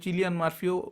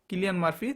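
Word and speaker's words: Cillian Murphy: best অভিনেতা কিলিয়ান মার্ফি কেউ চিলিয়ান মার্ফিও উচ্চারণ করেন তিনার নাম কিলিয়ান মার্ফি তিনি ওপেন হাইমা সিনেমার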